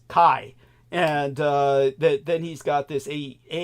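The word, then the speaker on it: χ: But I found my notes now, and what happened is X is the Greek letter chi, which has a K sound in Greek. Greek, all chi, or chi, is pronounced kai.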